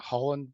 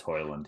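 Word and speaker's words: Højlund: Like, I'm just interested to see how that Holland bloke or Hojlund, I can't pronounce his Hoyland. name. Is it Hoyland? Yeah, it's Hoyland.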